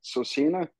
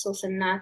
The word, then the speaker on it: Susina: How about I'm gonna probably mispronounce this, but Sosina? You were very close. Hi, my name is Susanna.